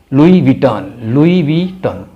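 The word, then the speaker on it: Louis Vuitton: Number 13 LOUIS VITTON, लुई विटन ये French brand है।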